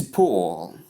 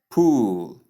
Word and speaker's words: pull: Number 10 is pull. Pull. Pull. As I said earlier, this word takes the short oo sound, not the long ooh sound.